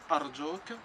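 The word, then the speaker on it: أرجوك: Por favor, puedes decir, por ejemplo, arjuk.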